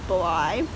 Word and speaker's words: Bly: the deep blue sea i have been saying hazel blee the deep blue sea just because it rhymes with c but it's probably really pronounced bly anyway this book is